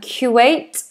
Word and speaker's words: Kuwait: And then we have um Kuwait. Kuwait. I've definitely heard of Kuwait. Kuwait. Kuwait. So, we make like a rounded sound, a rounded face.